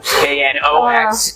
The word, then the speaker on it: Knox: The interesting thing about four knots is that the K is silent. Did you know that? K N O X and K stands for